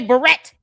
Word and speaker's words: beret: Beret, Candace. Raspberry beret. Good Lord, girl. Even Prince's song can help you understand how to pronounce that word correctly.